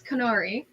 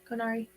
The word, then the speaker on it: Konari: um Miss canari um is that how you want to pronounce your name as a signno I've been pronouncing it canari and you Hol I know that you you're judging between are you guys both your konari yeah conari conari okay so canari you well